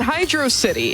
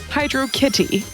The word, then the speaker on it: Hydrocity: single april has appeared how do you pronounce this zone name is it hydro city is it hydrocity which is correct or is it the alternative but also correct way hydro kitty i agree that hydro